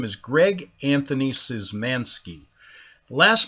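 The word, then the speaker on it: Szymanski: different names now my name is greg anthony zizmanski last name is spelled s z y m a n s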